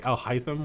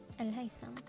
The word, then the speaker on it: Al-Haytham: This one here is what we say Al-Haytham, we say, but it's actually Al-Haytham.